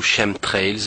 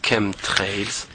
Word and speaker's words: chemtrails: sur les camp trails les Chem trails ou Shem trails mais ça se prononce Chem trails après bon je sais